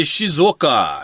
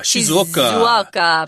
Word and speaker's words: Shizuoka: How do you say that? I would say Shizoka. Shizoka. Shizuoka if you're speaking English, which I think is Jingen.